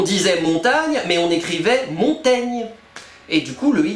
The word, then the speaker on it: Montaigne: je m'appelle montagne mais il l'écrivait avec un i devant le G pour bien t'aider à prononcer son nom ah et c'est marrant parce qu'aujourd'hui nous l'appelons Montaigne on a préféré changer la prononciation de son nom plutôt que l'orthograhe ah oui oui parce que